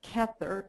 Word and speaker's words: Kether: there the name for the Divine self is kether ke t h e r and the very